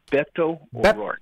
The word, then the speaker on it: Beto: man your battle stations sailor yes sir the pronunciation of that individual in Texas is Beto Beto overall all right got it thank you